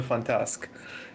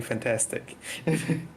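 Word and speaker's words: Fantasque: mispronounce the French destroyers he was specifically complaining about the the fantask because everybody's saying fantastic yeah yeah I know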